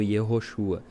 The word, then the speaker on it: Yeshua: Então não era esse nome aqui Jesus, era o nome Yeshua, né? Yeshua e é um nome ou Iosua, né? Alguns pronunciam Yoshua, mas eh geralmente é Yesua, que era o nome Jesus naquela época.